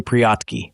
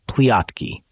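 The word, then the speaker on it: прятки: "Mamoshka, let's play priatki, hide and seek," cried Leleshka, pronouncing the R like the L so that the word sounded pliatki.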